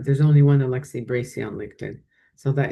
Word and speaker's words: Alexi: Well, Alexis Alexa, I keep saying your name wrong. Alexi, thank you so much for coming on the podcast.